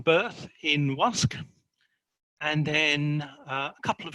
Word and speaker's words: Łask: from, a place called Łask. It's written Lusk, but there's a little line through the L, which means it's pronounced like a W.